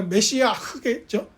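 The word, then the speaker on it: מָשִׁיחַ: 그 메시아가 구약 히브리어로 메시아예요. 그러니까 메시아흐겠죠? 목 발음이 나니까 메시아흐.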